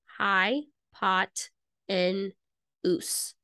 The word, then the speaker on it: hypotenuse: called the hypotenuse so this is how you spell it high pot in US h-y-p-o-t-e-n-u-s-e sorry if that is not super legible